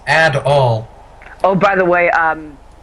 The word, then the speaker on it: Adol: the name's grief hello my name is Adel it pronounced ad all oh by the way